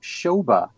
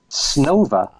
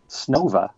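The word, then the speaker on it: Снова: many years I pronounced Shoba B-C-C-C-P. But Allan has told me that the correct pronunciation in Russian is Snova. Snova. Okay. So I'll have to say it correctly from now on. Snova B, C-C-C-P.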